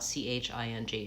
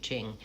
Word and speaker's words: Qing: In that case, I would tell people that the Q is pronounced like CH. Maybe write it out Ching, Qing.